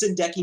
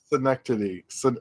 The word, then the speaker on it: synecdoche: It's like, I don't want to make like 40,000 Powerpuff or Teen Titans go arounds, It's like, Hey, YMS, when's the next Sindeki New York coming out?